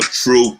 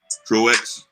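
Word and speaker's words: Truax: adam plant and uh true true or truex whatever the name is truex no you don't pronounce the aux pro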